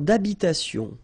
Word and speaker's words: d'habitation: Une tour d'habitation. Remember, H doesn't exist in French, well, in most of the cases, so it does mean that you don't pronounce it, all right?